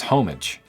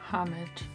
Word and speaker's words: homage: Often pronounced with a silent H in American English, but the British pronunciation is closer to homage.